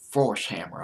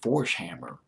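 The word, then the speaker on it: Forshammer: go at that frontman Lucas force hammer I believe that's how you pronounce it force hammer he said this song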